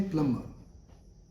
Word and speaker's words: plumber: Here again, B is silent. So we'll say plumber.